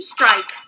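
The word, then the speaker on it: Streich: last name is Street strike strike it's just German strike for German s t r e i c h it's my's fault and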